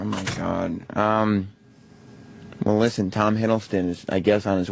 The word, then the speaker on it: Hiddleston: How do you pronounce his name? Hiddleston? Hiddleston.